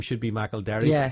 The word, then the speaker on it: McElderry: Why is it McElderry? Because I didn't actually know that was the way it was supposed to be pronounced, and I just used to. I was always called McElderry at school. That was just the way the teachers pronounced it.